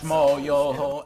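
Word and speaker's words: Schmoyoho: Schmo, yo, accent on the yo.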